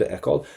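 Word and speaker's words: fheiceáil: Hopig me an desh iad ekol. Let's get your infinitive done first. So there's that FH in ekol. That's why I have the E highlighted. Don't pronounce the FH.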